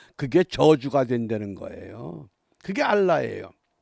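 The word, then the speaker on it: אָלָה: 살인과 투절과 가는 뿐이요 여기 저주라고 하는 것은 히브리 단어의 알라예요 알라신 그러죠 그 발음이 같아요 알라 그런데이 알라가 맹세한다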